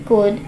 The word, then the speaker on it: could: Anything could happen. Anything could happen. इसमें L silent है, हम पढ़ेंगे could.